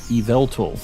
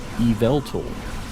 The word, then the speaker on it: Yveltal: pronounce all of these how do I pronounce uh Yveltal eveltal is how I say it Evel tool um yeah I guess the last one Yveltal is how it's like more with an a when I say it not an o eval tool how am